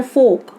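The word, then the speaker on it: folk: Next है फोक। फोक पे जो एल है ये हमारा साइलेंट है।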